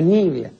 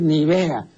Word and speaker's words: Nivea: pueblo pues no sabe lo que significa nivia no entonces traslada el acento pues s Entonces le suena más decir Nivea No claro Entonces ahora se conoce como crema Nivea eso es un disparate absoluto pues eso es tan